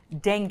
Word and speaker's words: dengue: What about, dengue, I'm pronouncing that right?